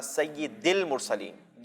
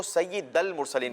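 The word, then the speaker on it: سيد المرسلين: जो है वह अ कई बच्चों को मैंने नोट किया कि वह सईद दिल मुर्सलिन नहीं करते वह सहित दल मुस्लिम पड़ते हैं तो यह दाल के नीचे जरूर है ज़बर नहीं है ठीक है इस बात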